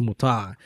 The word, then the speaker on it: Mutah: So it's pronounced Mutah.